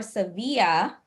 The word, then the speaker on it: Sevilla: And then of course we are going to Seville or Sevilla um as the is the Spanish um pronunciation.